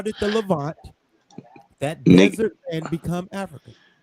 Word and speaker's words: Levant: The Levant. No, it's called the Levant. It's not said.